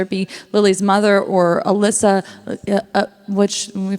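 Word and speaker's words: Allysa: listen to it but it's supposed to be Alysa it's Alysa with an AA okay good to know now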